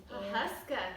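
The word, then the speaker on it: Pawhuska: Huska.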